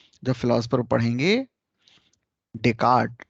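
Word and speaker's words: Descartes: ही जब फिलॉसफर पढ़ेंगे, डेकार्ट, डेस्कार्ट लिखते हैं, एस साइलेंट होता है।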